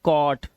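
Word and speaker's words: caught: इसे पढ़ेंगे क और जो हमारा जी एचटी है इसमें जी एच को हमेशा हम क्या रखते हैं साइलेंट रखते हैं तो हम क्या पढ़ते हैं सिर्फ टी को पढ़ते हैं तो ये हो गया कॉट ये कॉज नॉट नॉट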